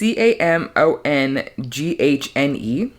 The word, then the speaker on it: Camonghne: I think it's Camonine. It's Camonghne. So Camonine Felix goes through a monumental breakup, culminating in a hospital stay.